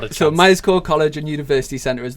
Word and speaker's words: Myerscough: And just for it's spelled MYERSCOUGH, so Myers Co College and University.